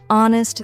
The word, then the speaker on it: honest: the K is silent honest the H is silent and Castle the tea